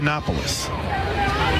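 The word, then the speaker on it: Koutsoyanopulos: Harry carry yes please k o u t s o y a n o p u l sounds exactly like it's spelled is Right copoulos catcher hitting 236 10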